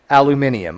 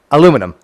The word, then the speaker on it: aluminium: know okay look it I get the fact that it's it should probably be pronounced aluminium okay I get this